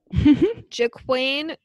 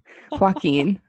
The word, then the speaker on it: Joaquin: Jaquane. I didn't say his name right, did I? No. Joaquin.